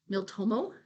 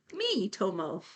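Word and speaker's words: Miitomo: people have like modded miltomo so now you're just saying random syllables the three three Ryan said yeah probably it's probably the one tell them all that's an eye not an L me Tomo oh that's me me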